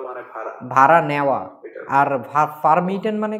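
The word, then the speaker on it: vermieten: এইবার হচ্ছে ফার্মিটেন দেখলাম না, ফের মিটেন, এফ এর মতো উচ্চারণ হবে।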